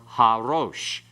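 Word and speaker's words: הָרֹאשׁ: when there is an article, and it becomes harosh, the head. Okay, so pronounce this one, rosh and harosh.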